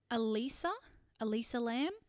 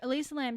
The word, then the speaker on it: Elisa: I think it's Elissa Lam, Elissa. Elissa. Spell it again. Elissa. I think it's because it's not Alyssa because there's no A.